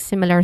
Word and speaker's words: similar: And then similar, which has three distinct sounds. Sim, first syllable is the stressed syllable here.